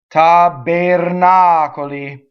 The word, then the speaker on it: tabernacoli: Okay, so we go backwards when we have a lot of syllables, and that's this word. Okay, the R is rolled, it hits the N. The O is closed. unstressed. The E is also closed, unstressed.